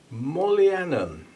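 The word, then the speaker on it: Mohlianum: And that is Mollianum, that starts with M-O-H, which I'm just pronouncing Mo.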